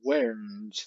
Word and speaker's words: weren't: Por cierto, la pronunciación de esta palabra es where y esta es weren't, ¿vale? Esta E nunca se pronuncia, ni con afirmativa ni en negativa.